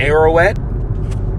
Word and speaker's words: Ararat: Call together against her the kingdoms of Ararat. Now, what is it? Says against her, right? Ararat, that's how you say it in Hebrew.